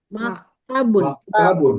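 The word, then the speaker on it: مَكْتَبٌ: Kemudian meja maktabun. Maktabun pendek semua ya.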